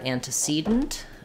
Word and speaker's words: antecedent: stress in the word antecedent that is stressed on the second to last syllable the penultimate syllable so and to cedent is dressed on the C syllable and it sounds like